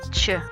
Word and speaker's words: Ч: Ч, Ch. The anterior part of the tongue joins with the alveoli and then quickly forms a gap.